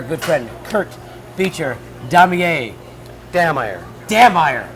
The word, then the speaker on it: Dammeier: Dammeier. It's not Dahmer.